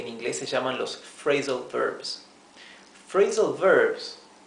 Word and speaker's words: phrasal verb: La combinación de P y H se lee y se pronuncia como la letra F del español. Por lo tanto, PH se pronuncia igual que la F. Bien, esto es phrasal verb, no es praisal verb.